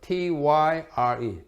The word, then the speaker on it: Tyre: 남쪽에 있는 것이 두로, 영어로 Tyre, T-Y-R-E, Tyre라고 발음합니다.